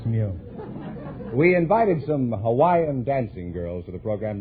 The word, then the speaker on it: Hawaii: a thousand I'm from Hawaii Hawaii is that the correct pronunciation I thought it was Hawai oh that's not right Hawaii is correct oh you couldn't say